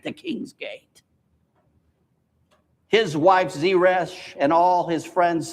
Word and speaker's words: Zeresh: He went home, calling together his friends and his wife, called Zeresh, is how you pronounce her name.